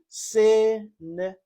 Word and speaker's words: cinnamon: Okay, this is a three-syllable word with the stress on the first syllable and you say cinnamon.